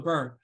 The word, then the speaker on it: Byrn: it feel bur one number one and then burn is with a Y my kids thought that up so in in the US there was a political candidate Bernie Saunders and his his thing was feel the burn and so my kids when they go to